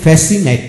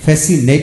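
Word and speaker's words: fascinate: সি উচ্চারিত হবে না যেমন ফ্যাসিনেট ফ্যাসিনেট এখন সি উচ্চারিত হবে না সিনারি সিনারি অ্যাসেন্ট অ্যাসেন্ট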